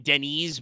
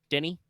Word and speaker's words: Danny: you could just be Denny it doesn't actually yeah like I think people just call them as in Denny's but without disease Denny Denny okay they didn't